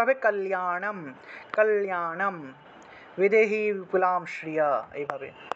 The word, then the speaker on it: কল্যাণম: তারপর একটা হলো 14 নম্বরের কল্যাণম, ঠিক আছে, লয়ের সাথে জফলা থাকায় লিয়া উচ্চারণ আসবে, কল্যাণম, অনুসার থাকায় ম, কল্যাণম বিপুলাম শ্রী, অনুসার থাকলে ম উচ্চারণ।